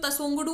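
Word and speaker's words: Tshogdu: और करे तो इसको वैसे तो तसोंगडू कहा जाएगा, फिर भी आप ये थोड़ा इंग्लिश TSHO ये वाला स्पेलिंग हल्का सा दिमाग में रखिएगा,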